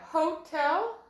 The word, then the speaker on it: hotel: Let's try it with the accent on the second syllable. Hotel. Do you like to stay at a hotel? Hotel. With the accent on the end sounds better.